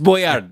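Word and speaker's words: Boyardee: that's his yeah boardi boardi you mispronounce that it's Boyard B BD uh he uh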